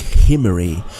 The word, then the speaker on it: Omri: their king in hebrew the name omri actually starts with a guttural sea so it would be pronounced something like himmery throughout our english bibles